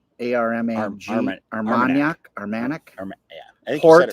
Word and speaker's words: Armagnac: I think it's Armagnac, A-R-M-A-G, Armagnac, I think port you said it right.